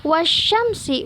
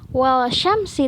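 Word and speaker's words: والشمس: Kemudian wasyamsi, bukan walsyamsi tapi wasyamsi, alif lamnya tidak dibaca.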